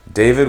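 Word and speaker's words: D4VD: give is David or D4 VD I think it's pronounced David though I have always had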